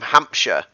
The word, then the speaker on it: Hampshire: lord of the rings we don't say shire it's it's worcestershire or i'm from hampshire so think of it rather more of like an e rather than i in the sh in